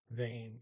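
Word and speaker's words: hvem: H is silent, in vain, H-V-E-M.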